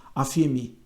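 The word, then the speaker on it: ἀφίημι: Na Bíblia, a palavra perdão, no grego, ela é afiemi, assim que diz, assim que se pronuncia, afiemi.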